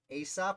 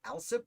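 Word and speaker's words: Alsop: Ames, Lynch, Aesop, or Alsip? I've seen it pronounced both ways.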